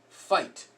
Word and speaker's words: fight: weird rules in English IgH makes eye light or fight again when two people are fighting you know that's not figured it's just fight the G is silent the H silent the eye is long that's the way we do it and then night again